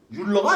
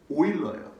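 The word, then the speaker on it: Euler: 이거 뭐라고 읽을까요? 율러가 아닙니다. 오일러예요.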